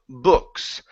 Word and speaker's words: books: Instead of care about books, give me a good R. And then our vowel sound here, open up the mouth. Instead of boo, books, it's books.